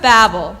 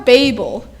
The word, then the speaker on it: Babel: for the Tower of Babel or Babel it's one of those word that can be pronounced two ways you certainly know a